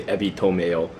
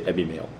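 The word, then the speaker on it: ebi mayo: say eie and Mayo they don't say EBY to Mayo they say Ebby mail okay uh or it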